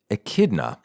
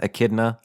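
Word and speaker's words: Echidna: had the same mother Akida I hope I'm pronouncing that right like Knuckles the Akida I think that's how you pronounce it e c hna achidna a kidna I like AK kidna mother of monsters was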